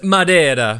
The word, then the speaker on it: Madeira: And it's pronounced Madeira.